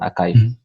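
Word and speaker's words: arXiv: mean like astrophysics information is to go on archive and okay in this archive is it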